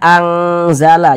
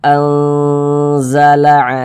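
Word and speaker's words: أنزل: Jangan dibaca anzala, jangan. Tapi kita baca anzala alaikum, kemudian didengungkan.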